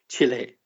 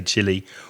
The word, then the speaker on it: Chile: So the pronunciation that most native speakers would say sounds very similar to that word.